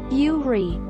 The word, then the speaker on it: Yuri: Pronounced Yuri, common Japanese female name that may be written with the character for lily.